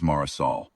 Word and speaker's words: Marisol: Saran said, "Name is Marisol, not Mari Marisol." He said it exactly right, the full four syllables, the softs, the way my mother said it.